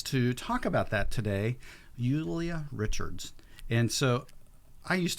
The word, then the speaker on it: Luliia: with a J, but how do I actually pronounce your first name? It is Luliia. Luliia. Yes. I did come to the United States introducing myself as Julia for other people to, the easier way to